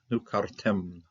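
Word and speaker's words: נֻקַּרְתֶּם: Nukartem. Okay, closed syllable here. The shava is going to be silent here. So you start out with nu, first syllable, next syllable is kar, next syllable is tem. Nukartem.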